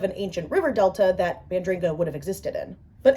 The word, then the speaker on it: Bandringa: I used to think it was Budringa without the first N, but it is Bandringa, and that was a humbling realization.